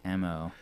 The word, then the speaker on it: Neighmo: something like that, but it's Neigh.mo, like neighbor more.